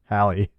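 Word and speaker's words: Halle: That could go, honestly, if she had a body like Hal Berry versus... Who? Oh, Jesus Christ. Hal Berry. Hal Berry? Hal Berry? She's transitioning. All right, how do you say it? Hallie. Hallie? Okay.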